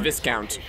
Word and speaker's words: Viscount: And now we're trying to get it's pronounced Viscount.